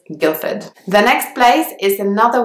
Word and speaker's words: Guildford: London you will hear this place name and a lot it does have a D in the middle but the D is not enough so it's not Gilda food its Guildford the next place is